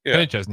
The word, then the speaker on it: Kenny Chesney: It's Kenny Chesney, right? Yeah, Kenny Chesney.